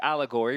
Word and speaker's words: allegory: I've just looked up the definition of allegory, which rhymes with Corey.